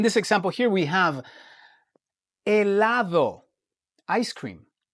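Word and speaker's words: helado: from English is that the H in Spanish is always silent. All right? We never pronounce the H. It's always silent. So what you do is you look at the vowel that follows the H.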